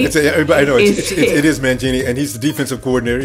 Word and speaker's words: Mangini: It is Mangini, and he's the defensive coordinator, yes.